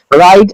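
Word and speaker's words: write: राइट एन ऐसे about your best friend. यहाँ पर आपका जो राइट है उसमें डब्ल्यू साइलेंट है।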